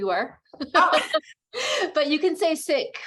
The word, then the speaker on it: Sikh: but I've also heard seek and I want to pronounce it correctly uh so in Punjabi it's sick with an aspirated H but we um the faith the community has been called seek for many years as